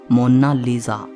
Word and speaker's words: Mona Lisa: कोई इसे मोनालिसा कहता है तो कोई मोनालिसा कहता है, लेकिन इटालियन में इसकी करेक्ट प्रोनाउंसिएशन है मोनालिसा।